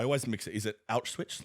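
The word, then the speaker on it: Auschwitz: But um how do you pronounce I always mix it. Is it Alswitch? Like how do you Oshwitz? Oswitch. Okay. Jewish people would say Awitz.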